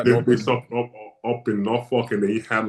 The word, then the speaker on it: Norfolk: But this is, you pronounce it right, it is called Norfolk, not Yes. Norfolk.